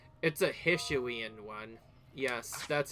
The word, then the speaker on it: Hisuian: Oh wait, that's also because it's a Hisuian one. Yes, that's how you say it properly. Hisuian.